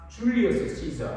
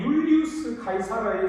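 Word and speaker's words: Julius Caesar: 좀 더 자세하게 말하면은 이집트를 정복하고 로마 제국을 세운 그 유명한 줄리어스 시저 아마 들어보셨을 겁니다. 근데 이 줄리어스 시저는 영어 발음이고 정확한 로마 이름은 율리우스 카이사르입니다.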